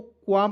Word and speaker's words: qualm: क्या पढ़ा जाएगा दोस्तों, क्वाम पढ़ा जाएगा, क्वाल में नहीं पढ़ा जाएगा, एल को साइलेंट रख दीजिएगा। ठीक है, एल को क्या करना है दोस्तों, साइलेंट रखना है, क्वाम पढ़ना है।